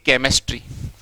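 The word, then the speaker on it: chemistry: यानी के में नहीं, के मी होता है केमिस्ट्री। तो अब कोई दिक्कत नहीं। तो देखो यहाँ पर सी एच है लेकिन फोन किसका आया, कै का।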